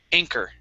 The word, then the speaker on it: anchor: And last one here, instead of anchor, okay, the CH has three sounds, a ch sound, a k sound, and a sh sound. Here, this is a K sound, it's k, so it's ink, anchor.